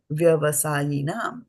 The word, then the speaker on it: vyavasāyinām: So you see here they did not pronounce the A in avyavasāyinām because the A got here combined with the yaha. It became a O, so now it gets dropped from here. Similarly here they are saying they are putting the S over here to say that it has been dropped. The A has been dropped, you don't have to pronounce it.